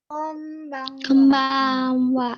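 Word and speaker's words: こんばんは: Konbanwa. Kombang. Jangan datar nih. Langsung minjem. Konbanwa. Konbanwa. Konbanwa. Eng ya. Konbanwa. Jangan n tapi eng. Kombang. Konbanwa. Konbanwa. Konbanwa. Eng neng. Ini n yang kedua itu bacanya eng.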